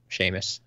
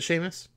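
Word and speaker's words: Seamus: class Ron Neville seus Shamus is it Sheamus yep okay I I'm not sure how to pronounce that it yeah that that's that's one of those what is it like Irish or Scottish names probably talked about that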